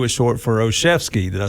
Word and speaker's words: Olszewski: Uh Ozooski. No, that's not it.